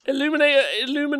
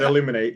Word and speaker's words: Illuminor: You said illuminate. You said illuminator for a start.